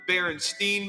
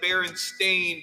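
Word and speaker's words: Berenstain: love growing up the baren stain beers I mean the baron stein bears it's actually the baron stain bears as though you have a stain on your pants I never once pronounced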